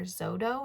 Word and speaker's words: Xodo: Two that are very, very popular are Zodo, which is spelled Xodo, and Notability.